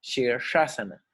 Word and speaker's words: Shirshasana: Shirshasana tiene las 3 S, por ejemplo. Shirshasana. Bien pronunciado, hay que pronunciar los 3 sonidos diferentes de la S.